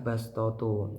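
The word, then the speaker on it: بَصْطَةً: Yang keempat yaitu lafaz ee bastotu dibaca bastotu huruf shad dibaca dengan huruf sin.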